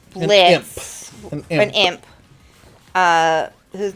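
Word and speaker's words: Blitzø: named uh now it's Blitz an imp uh whose name is Blitz o is silent the O is silent anyway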